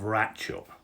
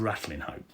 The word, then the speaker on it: Ratlinghope: to The Villages of ratchup as that is the proper pronunciation of rattling hope so sorry about that